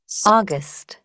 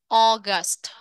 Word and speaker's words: August: đúng không Nhưng mà khi đọc á thì nó được nó sẽ phát âm thành chữ O các bạn ạ O các bạn có nghe được không source source August August gi Z Gi